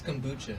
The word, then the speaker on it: kombucha: So have y'all had kombucha? Is it kombucha? Kombucha? Am I saying it wrong? It's kombucha. Kombucha.